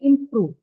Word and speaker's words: improve: That see, actually the first sound in improve is aspirated because it appears in the beginning of the stress syllable.